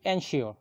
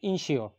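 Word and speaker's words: ensure: এরপরের শব্দ ইনশিওর, এটি একটি ভার্ব, আমরা উচ্চারণ করে থাকি এনশিওর, মূলত উচ্চারণ হবে ইনশিওর, নিশ্চিত করা।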